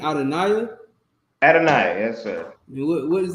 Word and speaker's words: Adonai: Okay, it sounds like Adonia to me, Adonai, but like the way we pronounce it is Adonia, right?